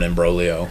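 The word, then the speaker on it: imbroglio: with a picadillo or an ambolo with a silent G it could I guess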